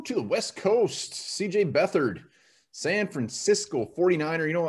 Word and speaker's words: Beathard: CJ Beathard, San Francisco 49er.